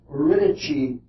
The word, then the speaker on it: Eurydice: This is the same dark underworld that Orpheus went into to fetch his wife Eurydice back from the underworld. That's an Italian pronunciation, but the only one